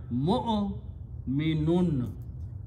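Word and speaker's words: مؤمن: So vow is just written, do not pronounce vow, this vow here. So it is mu'o, give a little jerk, mu'o minun.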